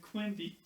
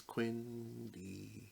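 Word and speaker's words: Quendi: Yeah, Quendy. Everyone knows it's Quindy.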